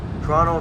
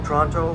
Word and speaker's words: Toronto: watching us from Midtown Toronto Toronto Toronto whichever way you are tickles your fancy however you want to pronounce it I say it both ways I pronounce it both